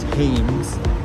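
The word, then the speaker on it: Thames: currently crossing the river tames even though it's there an H in it but they don't pronounce the h so it's tames and this was basically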